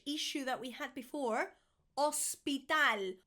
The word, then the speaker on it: hospital: Hospital. Hospital. Not hospital like in English. Hospital. Hospital. The H is there, but it really isn't.